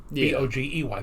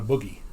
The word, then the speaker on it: bogey: modern language because uh in the armed forces any unidentified object is considered a bogey not a boogie yeah so um it's